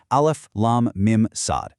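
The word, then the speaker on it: المص: Now, they aren't pronounced as a word. Instead, you say each letter's name out loud. Alf lam mimad.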